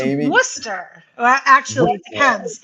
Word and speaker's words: Worcester: First of all, yeah, it's Worcester. Actually, it depends. If you were born here, it's Worcester, which means there's no R at the end.